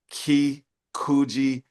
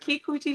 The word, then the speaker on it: Kykujichagulia: Thank you to Kykujichagulia. I think I missed it. I missed a syllable. No, you got it. I got it. Kykujichagulia.